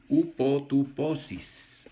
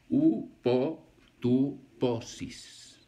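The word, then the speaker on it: ὑποτύπωσις: Y esta palabra forma es una palabra en griego que se escribe upotuposis, con H al principio. Upotuposis.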